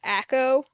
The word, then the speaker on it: Akko: Also, my name is pronounced Akko. I thought it said like Aiko as in acorn or something.